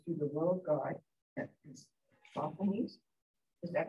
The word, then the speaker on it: Sosthenes: Sosthenes? Is that how to pronounce it? Sosthenes, yes.